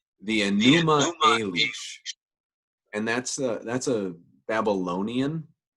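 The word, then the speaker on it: Enuma Elish: here because I want to make sure I pronounce it right right the aneema unleash and that's that's a Babylonian creation narrative it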